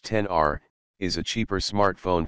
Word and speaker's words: XR: iPhone for battery life the iPhone XR pronounced 10 R is a cheaper smart